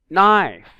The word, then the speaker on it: knife: So the GH here are silent letters. A light. Exhaust, not exhaust. Business, not busyness. Knife, not knife.